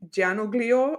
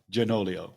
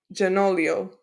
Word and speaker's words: Gianoglio: uh our Our Guest today it's uh Jim janoglio and I hope I'm saying his name right